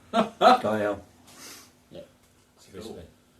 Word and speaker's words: Gael: You think of it like Guy and Al. Gael. Gael? Yeah. Like Guy Smiley and Al Bundy. Gael.